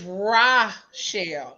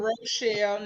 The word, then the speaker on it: Rochelle: you good and it's raw shell not Rochelle not racial not none of that right